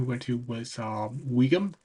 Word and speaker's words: Wigan: Um We even at one point, one town we went to was um Wigan, Wigan.